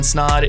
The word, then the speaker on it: Snaadt: My name is Snod. It Rhymes with Odd, and you're listening and watching the Rhymes with Odd podcast.